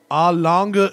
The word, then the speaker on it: Lange: to try and pronounce, Lange & Söhne. Is that about right? Yeah, that sounds fine. Lang, just Lang. Yeah, I say Lang. And that's okay.